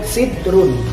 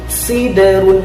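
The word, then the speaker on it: سِدْرٌ: Nah, jadi membacanya bukan sidrun, tapi siderun. Huruf da sukunnya memantul.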